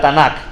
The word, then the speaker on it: Tanak: Vamos a comenzar primero con lo que entendemos de la Tanak, o Tanak, que significa Tanak este T A N A K, Tanak.